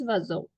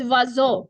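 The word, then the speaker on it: oiseau: So the bird in French is vazo. Very different, no? What I said and what you see. And the spelling is completely different. Yeah, but Google also says OCU. It's vazo.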